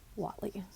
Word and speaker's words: Whatley: wal Walt Walt Le the spelling of it is w h a t l y I will let you figure out the best way to pronounce it in the YouTube video which I went to they pronounce his name Watley this is the church